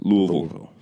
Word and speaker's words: Louisville: Yeah, and that's how you say it if you're from there. Louisville. Right. Louisville. Vol. It's that Vol.